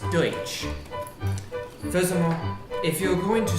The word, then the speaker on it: Deutsch: I am not Dutch. I am German. It's pronounced Deutsch.